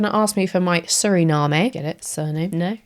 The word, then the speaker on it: Suriname: The water element for Guana and Surinami. I'm probably pronouncing that wrong. Suriname.